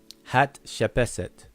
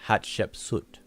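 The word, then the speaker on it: Hatshepsut: Hat shepeset. But most people pronounce it hat shep sut.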